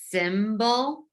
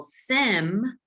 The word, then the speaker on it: symbol: syllable of the word symbol it sounded like in our first syllable sim that we heard the short i sound but sometimes the letter